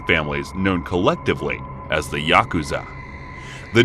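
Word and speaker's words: ヤクザ: cards to draw are eight nine and three pronounce yaku Za in Japanese the implication being that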